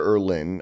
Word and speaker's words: Irlen: Irlen, Irlen. That's not how I was going to spell that, so okay.